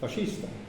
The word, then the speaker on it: fascista: Pardon, comment on prononce fascisme en italien? Faccio, fascista. Fasciste. Parce que le SC, ça fait che.